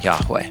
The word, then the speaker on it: Yahweh: And the most ancient pronunciation that we're pretty sure we can recover of it would have been Yahweh.